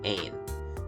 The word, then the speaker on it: Ain: would be going to, Ain. Yes, I know the S is silent, the French language is very annoying like that.